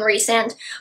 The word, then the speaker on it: Rysand: Hey, by the way, I do know it's pronounced Rhys and Rysand, but I will ever and always know Rysand.